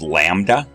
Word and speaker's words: lambda: Wavelength, and that letter is pronounced lambda, and it's measured in meters or millimeters or nanometers when you get to light waves, but it's a distance.